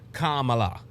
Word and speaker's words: Kamala: It has always been pronounced Kamala. People constantly saying it wrong doesn't make it right.